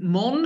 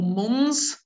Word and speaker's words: Mons: So we are in Mon or Mons, depending how you like to pronounce it, the French way or the Flemish way.